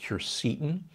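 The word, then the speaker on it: quercetin: milligrams of zinc i'm a big fan of curceton sometimes pronounced cursin it's a compound that's present in the white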